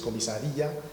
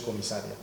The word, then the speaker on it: comisaría: Es comisaría, no es comisaria.